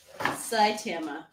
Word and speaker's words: Saitama: Oh, Oh, it's, so it's and it's pronounced Saitama.